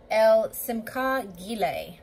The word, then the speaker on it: El Simchah: over so um our verse today is over el simco that's how you pronounce this particular name of god and i